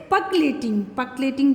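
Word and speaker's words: percolating: They stop water from पकलेटिंग का मतलब होता है रिसना या छन के जाता है, तो द करेक्ट प्रोनाउंसिएशन इज पकलेटिंग बोलते हैं इसको, रिसना या छन के जाना.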